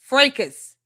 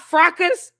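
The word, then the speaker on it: fracas: Frecus.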